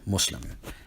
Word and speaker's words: Muslim: In the case of the word Muslim, the initial mim is vocalized in such a way that it has a short U sound. If you transliterated it the way it's vocalized, you would write it M-U, so Muslim.